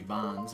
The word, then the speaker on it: Bonz: I mean, technically the way it's spelled, it should be Bonz, right? Bones would be if there was an E there.